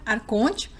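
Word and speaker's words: archon: Então, não há palavra copta egípcio antigo, para arconte. Então, os textos gnósticos usam o termo grego da transliteração copta, que é pronunciado arcon.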